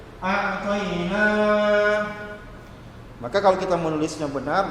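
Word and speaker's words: أعطينا: A'tayna, na berarti huruf nun, baca panjang berarti ada alif. A'tayna.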